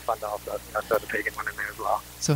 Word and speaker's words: Pagano: Okay, but the Pagano was pay, right? Yeah, it's interesting. People when we were younger used to pronounce it differently when they would say my brother's name. I'm not sure why, but they used to call me Pagano, but it's Pagano. Pagano.